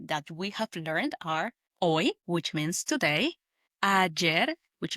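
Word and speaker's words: hoy: for today, which is oi. Oi, spelled h o y. Oi. Remember that the h in Spanish is silent. So, we pronounce it like oi. O y. That's right. Instead of hoi, we say oi.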